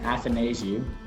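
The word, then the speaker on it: Athanasiou: for me and to think about it and athanasiu that's how you say his name going to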